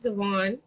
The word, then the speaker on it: Devaugn: smooth all right so thank you so much devon am i saying your name right correct yeah all right how are you pronouncing me armani oh yeah that's easy yeah